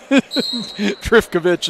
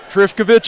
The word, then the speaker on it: Trifkovich: on go for it trickovich is what I'm going there's an F okay I didn't see it yeah I asked one of the guys over on the far side I said is this how you say this he looked at me and just rubbed his shoulders and I said trifkovich it is we'll go with it there's a foul on